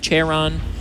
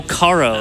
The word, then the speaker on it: Charo: Charon, Hidden Grave. I say Karen's, or like Karen's Hidden Grave. Oh, Karo, yeah.